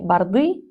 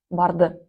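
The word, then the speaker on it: барды: Не борды, а бард.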